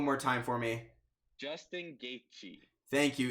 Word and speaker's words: Gaethje: Pronounce it one more time for me. Justin Gaethje.